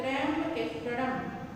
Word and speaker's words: त्र्यंबकेश्वरम: त्र्यंबकेश्वरम, म में हलंत है तो त्र्यंबकेश्वरम।